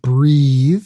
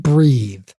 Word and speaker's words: breathe: So breath is a noun, pronounce breath. And when you put an E on the end of it, that will make it into a verb to breathe.